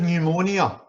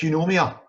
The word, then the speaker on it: pneumonia: And instead of pneumonia, they said pneumonia. I can understand why, and if you've ever seen the spelling of the word pneumonia, you'll know why, because it begins with a PN.